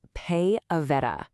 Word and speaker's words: PayAveta: It's pronounced Pay Aveta.